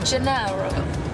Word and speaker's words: Gennaro: Am I pronouncing it correctly? Gennaro.